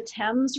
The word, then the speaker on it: Thames: anniversary to paddle the I'm gonna say it wrong and you're gonna know the Thames river from sources did I say it right yep that's a good one well my brother lives